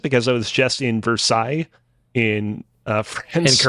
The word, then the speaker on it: Versailles: city of Montreal like I got to appreciate ver sales kind of a weird way that you pronounce it because it was just in Versailles in France in correct don't say that here